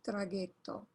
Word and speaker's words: traghetto: Il traghetto. And that's the other G. When you add an H, you have the hard G. Ge. Traghetto.